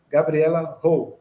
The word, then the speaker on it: Gabriela Rowe: uma mais nova querida, Gabriela Rowe. É assim que se pronuncia seu nome, vou aprender direitinho.